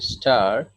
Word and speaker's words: stir: STIR উচ্চারণ হচ্ছে স্টার, first tense হলে আরেকটা আর যুক্ত হয়ে ইডি হবে।